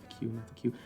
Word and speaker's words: Qu: yeah it's q u even though you pronounce it singular q it's done uh right